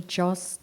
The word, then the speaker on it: Joss: Kia ora koutou, ko Joss tuku ingoa, rhymes with boss.